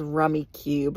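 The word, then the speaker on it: Rummikub: But the other one that I love is rummy cube or as I call it, rummy cub cuz that's kind of how it's spelled.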